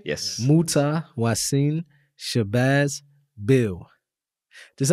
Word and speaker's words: Mutah: So it's pronounced Mutah.